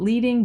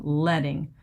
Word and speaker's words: leading: And it is pronounced like pencil lead. I used to call it leading but it's actually letting.